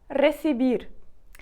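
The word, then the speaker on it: recibir: букви Р ресибір але Зверніть увагу на те як я вимовляю це слово тому що перша перший оцей звук перша буква ер звук буде вимовлятися сильніше так трішки з таким риканням ричанням р ресибір а остання ер вона в нас слабка слабкий звук тому ми будемо її вимовляти так ледь-ледь ресивір р р чуєте такий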